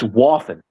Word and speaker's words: Waffen: Dixie Wafin is funny though. Yeah, that's not how you say his name, but it's Waffen.